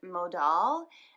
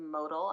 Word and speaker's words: Modal: doll and ten cell and mo doll which sometimes is called modal I've heard it pronounced a couple ways it's a subset of